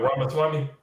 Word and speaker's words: Ramaswamy: Vivek Ramaswamy.